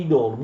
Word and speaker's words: idolum: Si produce idola, plurale di idolum, non pronunciate idolum oppure idola.